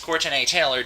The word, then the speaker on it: Courtenay Taylor: By the way, if you're wondering why I pronounced her name like that, it's because that's the way her name is spelled. She spells it with an E because she's really cool like that, you know?